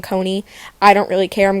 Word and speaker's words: Coni: wrong their name wrong it's not Donnie and Connie it's Dhoni and Kony I don't really care